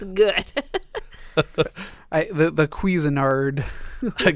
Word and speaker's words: Cuisinart: that doesn't mean it's good I the the Cuisinart the quizzinard cuisine I can't even say it wrong just